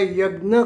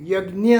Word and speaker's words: यज्ञ: यज्ञ कहा गया है यज्ञ शब्द पर भिन्न भिन्न भागों में के प्रांतो में उसका उच्चार उसका जो उच्चारण होता है वो भिन्न भिन्न होता है उत्तर प्रदेश में यज्ञ कहा जाता है महाराष्ट्र में यज्ञ कहा जाता है गुजरात आदि में यज्ञ कहते हैं और आर्य समाजवादी उसको